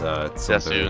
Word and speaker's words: desu: Actually it's pronounced Des, and it's Desu and Sundare.